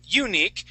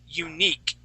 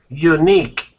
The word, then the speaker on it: unique: unique okay you are you're saying you're saying unique putting the accent at the very beginning the word is unique unique okay very good now